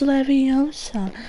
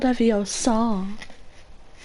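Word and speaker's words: Leviosa: someone's AIO sorry just saying it wrong it's leosa not leosa you do it D feel so clever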